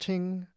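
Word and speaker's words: 聽: The character is pronounced ting, and the traditional form is made up of the characters for ear, eyes, and ready for this?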